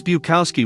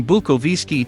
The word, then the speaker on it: Bukowski: To sound more American, Bukowski's parents began calling him Henry and altered the pronunciation of their last name from Bukowski to Bukowski.